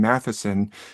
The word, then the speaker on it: Mathisen: given different names, but the TH letter is in Norwegian is actually pronounced usually like a T with a H sound on it. So my last name, Mathisen, if I introduce myself